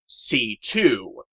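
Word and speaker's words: C.C.: know some will ask, Cece's name is supposed to be pronounced as C2, as it's just her initials. But the Japanese phonetic spelling and their pronunciation of two makes such sound like Shi-Tzu, as in Shih Tzu, the breed of dog.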